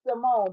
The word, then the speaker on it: Samoan: So my name was and she said, "Simone, but spell it this way." So that's how I end up y'all with Simone spell. S A M O A N.